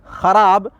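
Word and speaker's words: خوار: अलिफ रे के साथ, यहाँ पर क्या है कि वाव साइलेंट है यानी वाव मादूला है, ये खवार है, लिखा गया खार।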